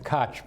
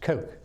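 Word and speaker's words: Koch: sometimes see people see that and say the cotch by what it's pronounced Coke Charles Coke and his brother his name escaped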